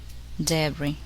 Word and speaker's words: debris: The letter S is silent in the following words. Listen and repeat each word after the speaker. Carp, aile, chassis, debris, chamois, lille.